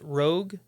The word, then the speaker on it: ROG: There's been a recent release of a new handheld gaming system, the Asus, I think it's pronounced ROG, it's just ROG, Xbox Ally X, and this is an attempt at a handheld Xbox gaming console, and it released recently.